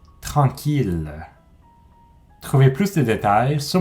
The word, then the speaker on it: tranquille: Il y a 3 grandes exceptions. 1000, ville, tranquille.